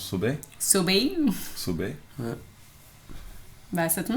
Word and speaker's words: Sobey: Sobey, comment on prononce Sobey?